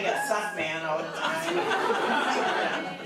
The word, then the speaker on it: Sukman: That's like a suck man. I don't know. But it is pronounced Suckman.